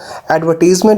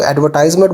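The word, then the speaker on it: advertisement: को कंफ्यूज कर रहा है कि इसकी राइट प्रोनाउंसिएशन एडवर्टीजमेंट है या एडवर्टाइजमेंट है। दोनों ठीक हैं जी, ब्रिटिश इसको एडवर्टीजमेंट बोलते हैं और अमेरिकन इसको एडवर्टाइजमेंट बोलते हैं, मगर आप जो इसको मिस प्रोनाउंस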